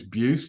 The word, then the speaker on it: Buist: have an unusual name uh my surname is bued it's spelled bu i s t if you Google